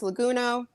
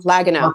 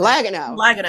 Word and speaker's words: Liaguno: Joining us today, back for the second time, this time flying solo, editor extraordinaire, Liaguno. Did I say it right? I said it wrong. Liaguno. Perfect. Second time. Perfect. Liaguno.